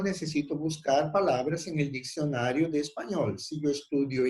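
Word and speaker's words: diccionario: Cuidado com a pronúncia desses dois C aqui.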